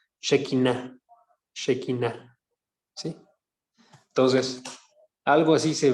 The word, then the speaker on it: Shekinah: Shekinah se escribe S-H-E y luego lo demás, como se escucha, Shekinah, ¿sí?